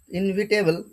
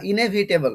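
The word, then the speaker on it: inevitable: না তাকে বলা হয় ইনভিটেবল বা ইনেভিটেবল অনেকে ইনভিটেবল উচ্চারণ করে বা ইনভিটেবল বললে হবে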